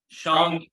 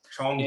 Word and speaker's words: Shang-Chi: Shang-Chi Shang-Chi. and the Legend of the Ten Rings. Oh, wow. Yeah, don't worry. I mispronounced it my whole life too.